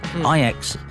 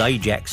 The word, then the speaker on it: Ajax: iax playtime this week ix i'm saying in the week are the only football club in the world that have the benefit of being pronounced as they as locals do because ix and then